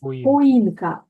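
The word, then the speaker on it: choinka: буде ялинка так поїн воно пишеться CH пишеться цех да а читається як х а хоїнка їнка це у нас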